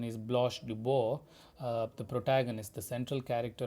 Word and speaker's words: Blanche DuBois: The French pronunciation is Blanche Dubois, the protagonist, the central character of the play.